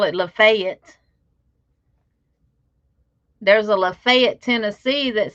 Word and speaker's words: Lafayette: don't know ms lynn is that pronounced lady yet louisiana or is that supposed to be lafayette i know i don't is i mean i don't understand why people get offended by accents because it is what it is if you from down south louisiana you don't have that accent like troy and them off of swamp people so miss lynn if you live in laffy if that's lafayette yeah lafayette um now a lot of